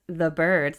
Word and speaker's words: Byrds: It's like pronounced the birds like except it's with a Y.